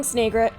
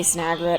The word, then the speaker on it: Snagret: and there's the burrowing snagit people usually say snagret I think just because of the way it's spelled but I've already explained my thoughts on that burrowing snagret snavi family